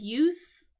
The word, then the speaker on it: use: the noun right you notice how I said use it has like a like an S sound